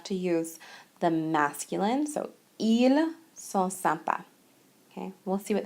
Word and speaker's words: ils: now please note that this is pronounced the same way as the singular he okay because we don't pronounce the S at the end so IL and IL